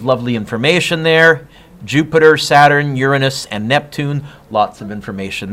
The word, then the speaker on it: Uranus: planets Jupiter Saturn by the way it is pronounced Uranus not the way of you want to say